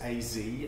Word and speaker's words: AZ: of the brand-new Ibanez AZ now I'm saying a Z even on British because that's how the Japanese to pronounce it so that's what they're